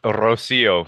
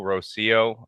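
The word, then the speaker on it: Rocío: please apologize to her but tell us the pronunciation it's Rosio so r o c iio Rosio uh means morning do drop in case that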